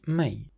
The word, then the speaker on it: mãe: The word m in Portuguese is may my mom is very nice.